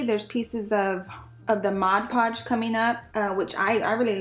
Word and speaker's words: Mod Podge: also I noticed that I've been saying modge podge I just been staying it like that and I'm like oh my god that is not how you say it so Mod Podge sorry I know somebody's